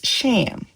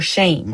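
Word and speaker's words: שֵׁם: His names is sham or shame, rather. Shame and shame.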